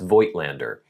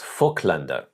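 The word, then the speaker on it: Voigtländer: And even this lens, I got this uh fllander as they as I believe it's pronounced in German.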